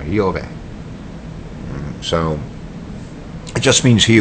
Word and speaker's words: Jehovah: is he who is it's the right way to pronounce jehovah yover so it just means